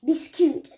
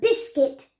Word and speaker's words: biscuit: but this cute biscuit so if you say this cute you won't really make any sense it won't make however any sense but biscuit biscuit remember wise of